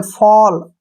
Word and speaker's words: fall: ए के बाद अगर डबल एल आए तो ओ का उच्चारण करना है, ओ, ऐसे। जैसे नेक्स्ट है FALL, फॉल, SMALL, स्मॉल, STALL, स्टॉल, TALL, toll, WALL, वॉल, BALL, बॉल।